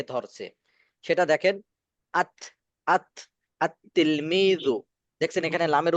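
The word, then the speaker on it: التلميذ: সরাসরি পরবর্তী শব্দটাকে ধরছে সেটা দেখেন আত আত আত তিলমিজু দেখছেন এখানে লামের উচ্চারণ হয়েছে আল তিলমিজু না আতলমিজু আতলমিজু আতলমিজু আরজুল আরজুল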